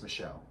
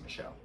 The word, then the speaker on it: Michel: to number two annelise michelle i'm assuming that's how her last name is pronounced m-i-c-h-e-l i think the french way saying that is michelle so what's up cool